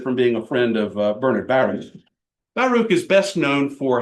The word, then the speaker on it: Bernard Baruch: Bernard Baruch, I know that it looks like Bernard Baruch. Bernard Baruch is how he pronounced it, how he preferred to pronounce it. He wrote it in his own book. He preferred to be called Bernard Baruch.